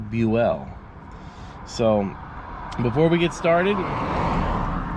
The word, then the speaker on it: Buell: the JFK assassination most people know him as Buell but his name is actually pronounced Buell so before we get started we'll show you